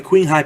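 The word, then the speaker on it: Qinghai: I'm talking about the queen High pipes and I I hope I'm saying that right it's it's spelled q i n g ha a i Queen High King High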